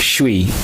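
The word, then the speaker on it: 谁: This character is pronounced Shui, and Shui means who.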